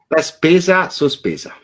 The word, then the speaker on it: La Spesa Sospesa: La Spesa Sospesa. Is that remotely familiar to what you're? Yes, absolutely. Very good. Okay. Why don't you pronounce it properly? La Spesa Sospesa.